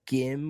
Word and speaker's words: Gim: to say his name, if it's Gim or Jim. I assume it's probably Jim. Yeah, I always pronounce it Jim. Yeah, but it's spelled Gim.